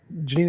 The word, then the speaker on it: Jeanine: foreign Janine is that how you pronounce your name that's how you pronounce it Janine it's nice to have you on really appreciate